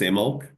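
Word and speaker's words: Imbolc: which is spelled I BC imul but it's pronounced imul um and in the bronic Celtic which which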